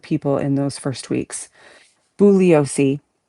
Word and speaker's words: Bugliosi: Bouiosi bugiosi I like saying it with the G sound harder.